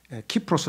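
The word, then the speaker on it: Cyprus: 지역이에요 그래서 국제적으로 거기 분쟁이 자주 일어나는데 그걸 사이프로스 고도음 발음하고 영어식으로 그다음에 그리스 발음 식으로 하면은 키프로스 하잖아요 그죠 라틴어로 하면 그러니까 요런 것들이 그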